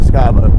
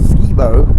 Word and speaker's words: Skibo: going to be pronounced Skibo because, well, that's how it's spelled. But if you're from Fagatville, you know it's called Skybo, not Skibo.